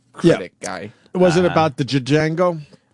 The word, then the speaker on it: Django: jang to judge and i know it's pronounced uh... django but I like this eight digit and